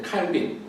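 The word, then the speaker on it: Calvin: 그럴 수밖에 없었던 게 우리가 또 장로교 개혁 전통의 이제 칼빈, 요즘은 이제 현지어 발음을 해서 칼뱅이라고도 많이 부르는데, 칼뱅 같은 사람들이 이제 프랑스 출신이에요.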